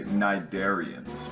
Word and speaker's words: Cnidaria: lot of credit but even though there is AC at the beginning of this word it is not pronounced whatsoever this is called phylum Cnidaria cnidarians are generally pretty